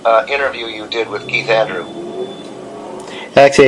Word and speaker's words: Andrew: I mean, Andrew or Andrews? I'm looking no S. Just Keith Andrew. No S. Got it.